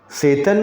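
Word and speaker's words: Tsetan: है तो उसको हम टी साइलेंट करके सेतन पढ़ सकते हैं। और मैंने आपको बताया कि और अगर इंडियन इंग्लिश के अलावा जो ब्रिटिश इंग्लिश है और अमेरिकन इंग्लिश है तो उन लोग का एक्सेंट अलग होता है, लहजा बोलने का नाम, तो वो लोग मतलब कुछ प्रोनाउंसिएशन इसका सेतान भी करते हैं, सेतान, बट यहाँ हम सेतन ही प्रोनाउंस करेंगे इसको।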